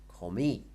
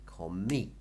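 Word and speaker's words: comí: I ate past tense call me again stress on the end calm me and s goody beer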